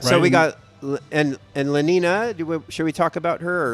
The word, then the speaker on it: Lenina: Well, yeah, Lenin is how they said it in the audiobook. But that was just wrong. And I mean, everything I they was say. pronouncing it like it was Lenin. Yeah, Lenina, Because that's how it's spelled.